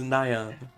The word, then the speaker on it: Nyon: It was Nyan. Nyan. Yeah. Oh, like nigh on.